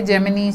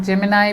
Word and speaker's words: Gemini: तो ऐसी ही एक स्टूडियो है जेमिनी स्टूडियो, इसको कई लोग जेमिनाई भी प्रोनाउंस करते हैं.